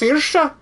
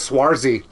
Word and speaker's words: Saoirse: Oh, it's pronounced Saoirse. That's not what that word says. No, that word does not say that. That says Swarzy.